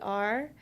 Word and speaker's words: Carder: Everyone always spells my last name wrong, but it's with a D as in dog, Not a T. not a T. Carder.